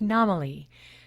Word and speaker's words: Namely: And I just realized I think I might be pronouncing her name wrong. I believe it's Namely.